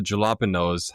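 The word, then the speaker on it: jalapeño: How is a J from the jalapenos? How is that pronounced like an H?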